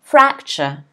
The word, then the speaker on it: fracture: supplement okay next word fracture fracture as stress is on the first syllable again fracture fracture fracture it sounds like a ch sound fracture it's to crack